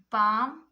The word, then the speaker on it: palm: This all words L is silent. Now next we have palm, walk, chalk, folk, talk, calf, calm, balm, then almond.